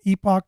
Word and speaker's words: Epoch: And I would encourage anyone to get a subscription to the whether you pronounce it Epoch Times or Epic Times.